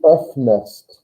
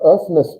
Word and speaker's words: öffnest: Even if you tried to not put an E in there and you try to pronounce it like that, oops, you're going to make an E sound anyway. Öffnest. I don't know how you get around not putting another sound in there.